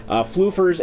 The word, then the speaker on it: Flufeur: Today we are actually playing as Captain Flufeurs, or Chef Flufeurs, as the case may be, or it should be Chef Flufeur, because it's French, so the S at the end is silent. That's how French works.